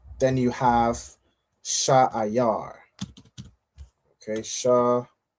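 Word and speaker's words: שעיר: All right, it's pronounced Sha'ayar.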